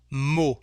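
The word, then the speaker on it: mot: the word for example mo here we don't pronounce the letter t so the sound o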